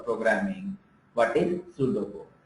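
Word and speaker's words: pseudo: known as सूडो code hair P साइलाइन सो द इट is pronounce as सूडो code next point says like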